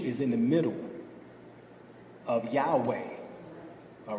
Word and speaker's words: Yahweh: the God was calling Yahweh of course others pronounce it Yahoo Oh Yahoo but it is still Yahweh all right now in